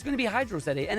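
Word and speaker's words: Hydrocity: chat you have the, isn't hydrosity meant to rhyme with velocity and do all that? No, because hydrosity is not a word. It is Hydro City. It is a water of city, or a city of water.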